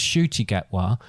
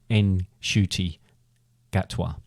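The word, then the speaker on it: Ncuti Gatwa: I've no well I I thought it was shy gatwa and then uh I read somewhere and then someone said no actually you pronounced the N at the beginning you go in shoy Gat anyway um he him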